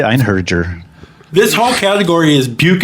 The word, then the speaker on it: Einherjer: Einherjer. Einherjer. All right. I say Einherjer.